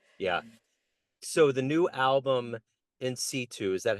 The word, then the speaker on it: in situ: So the new album in situ, is that how you say it correctly?